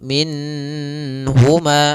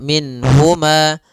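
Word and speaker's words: مِنْهُمَا: Nun di sini harus jelas karena bertemu dengan huruf ha. Maka tidak boleh ditahan. Misalnya ditambah dengan gunah minhuma. Ah, ini enggak boleh. Atau ditahan suaranya minhuma. Enggak boleh juga. Maka langsung saja minhuma. Dan dia tidak boleh mantulnya, tidak boleh minahuma.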